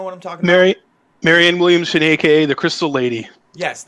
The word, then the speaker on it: Marianne Williamson: know the next night i am going to mispronounce her name but the author i think it was miriam williamson is that her name do you know what i'm talking about mary marianne williamson aka the crystal lady yes the crystal lady